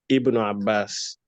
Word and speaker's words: Ibn Abbas: I were starting with it, I would have pronounced the alif with a kasra. I would say Ibn Abbas, Ibn Mas'ud, Ibn Taymiyyah, Ibn al-Qayyim, like that.